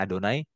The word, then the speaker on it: YHWH: Saya bacanya Adonai, tapi tertulisnya Yod He Vav He, YHWH gitu ya.